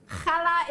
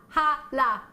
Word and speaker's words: challah: Challah is pronounced challah. Hala. Hala. It's a Jewish variety of bread. It looks like a brioche. Great show as always. Thanks, Robert, although we can't pronounce it. Ali, think of the pronunciation of CH in Loch.